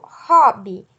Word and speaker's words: hobby: como no português então quando eu falo hobby eu faço a pronúncia de ó né o hl tem um som porque a palavra hobby